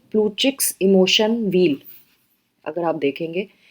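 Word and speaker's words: Plutchik: general life में अच्छा इसमें है ना टी साइलेंट होता है जब आप इसको प्रोनाउंस करते हो तो ये प्लू चिक प्लू चिक कहते हैं इसको इनका नाम को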